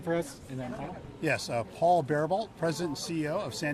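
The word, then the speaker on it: Paul Bariboult: And then Yes, Paul Barebolt, President and CEO of San Diego Zoo Wildlife Alliance. Name is spelled P-A-U-L, space, B as in boy, A-R-I,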